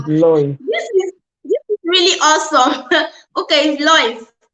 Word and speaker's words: Lois: The name is Lois. Okay, is it Lois? The pronunciation is Lois.